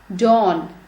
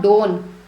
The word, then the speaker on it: Don: Next, Dawn, D-O-N. Dawn is an old Bollywood film. Now it's not Dawn. I hope you pronounce it correctly. A very famous film. Dawn, O sound.